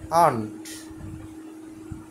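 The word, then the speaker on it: aren't: আরো বলা হয় কিন্তু আর টা অনুচ্চারিত থাকবে আমেরিকা এবং ব্রিটিশ এটাকে বলে আন্ট আন্ট মানে না নাম্বার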